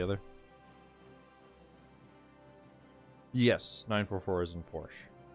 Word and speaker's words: Porsche: yes 944 is in Porsche or porschea if youest that's usually how I say just because uh I think it's partly from doing videos and uh trying to pronounce the words correctly plus Porsche is the name of uh the designer so it is kind